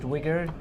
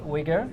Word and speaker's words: Uyghur: bit of a weird spelling there but it's pronounced wigger you know kind of like a white guy with dreadlocks yeah anyway it's pronounced Weger and if you search for it find something